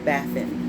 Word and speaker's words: Bathin: And let's see the proper pronunciation here. Belial, okay. Aries, like I said, Aries. Okay, and here we have Bathin.